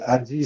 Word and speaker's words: ADIE: Hein, donc, ADI, ça s'écrit A-D-I-E.